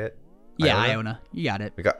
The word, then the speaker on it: Iona: pirate deck uh we got Iona I own Iona right that's how you say it yeah Iona you got it we got Iona um man